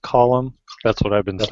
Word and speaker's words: Colum: Today we have with us, is it pronounced Colum?